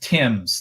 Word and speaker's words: Timbs: We are here with the Timbs family, pronounced Timbs, like the river, if you're wondering.